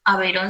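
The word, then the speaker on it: Aveyron: Aveirón se escribe sin H y así como suena, ¿sí?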